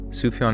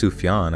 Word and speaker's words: Sufjan: Sufjan isn't pronounced sufjan, but I don't know how else to pronounce it, so I'm just Don't say anything. I think it's sufan. I think it's like a it's like a soft J.